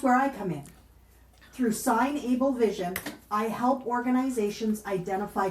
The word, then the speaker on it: SignAble: And I also realized I've been pronouncing your business name wrong, so it's SignAble, not signable.